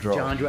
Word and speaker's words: Johndrow: Am I pronouncing that right? Johndrow.